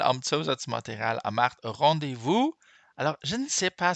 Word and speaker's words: rendez-vous: Alors, je ne sais pas si je vous ai déjà dit ça, mais le S, vous n'allez pas me croire, c'est incroyable. Le S là, hein, il n'est pas prononcé.